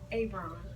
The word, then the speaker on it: Avon: His name is Avon. Like Leon, but Ab.